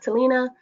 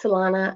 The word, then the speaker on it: Talana: I know it looks like it's pronounced Talina, but it's Talana.